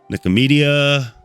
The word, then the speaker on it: Nicomedia: Nicomedia. It's like media about nicotine.